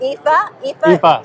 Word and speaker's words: Aoife: Right, it's Aoife, and it's Aoife is how it's spelled.